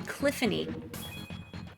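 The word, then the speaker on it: Cliphne: maybe and one named c l i p h n e Rhymes rhymes with Tiffany cliffany I want to read it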